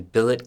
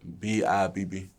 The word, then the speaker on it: Bibb: clarification once more uh you were in billet county am i pronouncing that right bill b ibb bill bib count bibb county for two years fighting